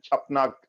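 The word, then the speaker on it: क्षपणक: अभी कालिदास, आर्यभट्ट, धन्वंतरी, वारामिहिर, अमर सिंह, शंकु, भरूची, माघ एंड छपनक। छपनक में एक के साइलेंट है।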